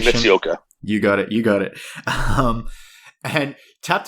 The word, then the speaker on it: Eiji Mitsuoka: I'll probably butcher the pronunciation. Eiji Mitsuoka.